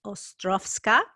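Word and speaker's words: Ostrowska: you know this but in Polish the W's pronounced like a V so my maiden name is spelled OST R Oh W it's pronounced Ostroff ska and yes that's the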